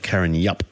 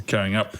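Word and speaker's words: Karrinyup: I said Lake Carryup, and they said there's no Y in. Carrying up.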